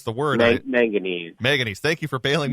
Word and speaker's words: manganese: So during the tests, though, some residents reported cloudy water and increased I'm going to not be able to pronounce the word. Manganese.